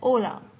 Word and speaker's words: hola: Notice how hola it is written, but when we pronounce it, we say it as hola. The H is almost silent.